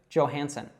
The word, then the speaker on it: Johansson: S's there, and then what a lot of people mispronounce here is the J. So this actually comes probably from some Scandinavian language where the J would be pronounced as a Y. So that would actually probably be more correct, saying Johansson. But she says it as an American would. So she says that J as J, Johansson.